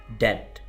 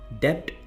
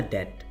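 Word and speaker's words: debt: डेट, डेट कहते हैं कर्ज को। बी प्रोनाउंस नहीं करना आपने, डेप्ट कुछ लोग पढ़ते हैं, ये बिल्कुल गलत है, आपने पढ़ना है डेट, कर्ज।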